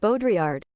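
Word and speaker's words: Baudrillard: Bodriard. Bodiard. Okay. Bodriard.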